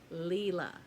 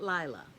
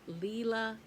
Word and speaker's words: Lila: And she said her name is Lila, not Lila. It's Lila, Lila's Studio, Lila. Okay?